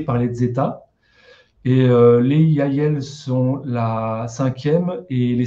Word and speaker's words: Yahyel: Donc, on va commencer par les Yael. Ça s'écrit YAHYEL.